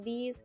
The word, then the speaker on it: these: them the same but the vowel sound is different this is a short I it sound while these is a long I ease out this and these that's